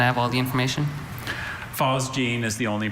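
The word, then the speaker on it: phosgene: Fosgene. Can I have all the information? Fosgene is the only pronunciation I have.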